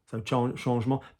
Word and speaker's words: changement: So changement.